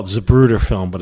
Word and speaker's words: Zapruder: Zapruder.